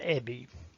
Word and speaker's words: Ebbie: whiskers are now gone my name is ebby and it really is spelled e-b-b-i-e do you remember the